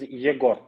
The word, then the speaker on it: Egor: how you pronounce my name okay uh you pronounce my name irony irony irony my name is jagor oh jagoy yes that's completely different name of the completely